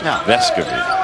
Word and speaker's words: Vescovi: No, the Tennessee PR people came up to us and told us that he's been allowing us to pronounce his name wrong. The emphasis in their pronunciation guide, it is Vescovi.